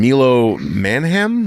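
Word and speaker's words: Milo Manheim: And then Milo Manham, that's how you say his name.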